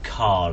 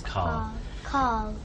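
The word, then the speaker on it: Karl: It seems like without an R. Yeah, I think it's my accent rather than. I think you said it right and I said it.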